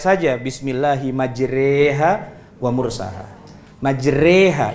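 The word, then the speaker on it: مجراها: Majreha itu imalah bacanya e.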